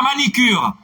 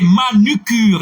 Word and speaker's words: manucure: Alors, c'est pas manicure. Et c'est manucure. Et ça nous dit. Et Iliane Alcima qui fait rejoindre, corrigez pour nous, s'il vous plaît. On ne dit pas manicure. Il existe, oui, non, non. C'est en anglais. C'est manicure. Manicure. Ok, ça c'est de l'anglais. Manicure. Ça c'est de l'anglais. Mais le mot français, c'est manucure.